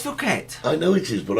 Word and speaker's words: Phuket: Apparently, Phuket is full of Russians.